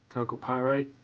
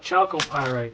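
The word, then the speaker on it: chalcopyrite: Calco pyite. Nice looking lightning. Of course, I heard someone call it choco pyite. That didn't sound right to me, but maybe that's how you say it. No, calco.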